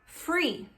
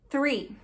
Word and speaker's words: three: Se você falar com sons de F, vai ficar free. Free. Free em inglês é livre ou é coisas grátis, né? Free. Então também não é assim que se fala 3. Como se fala 3 em inglês? Three. Three. Você não precisa fazer three, sabe? Fazer aquele sopro, fazer não faça isso. Você pode simplesmente colocar a língua entre os dentes e tirar.